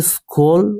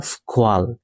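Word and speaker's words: squall: যেমন এই যে শব্দটি আছে, এটি হচ্ছে স্কোল বা স্কোয়াল, দুটোই উচ্চারণ সঠিক।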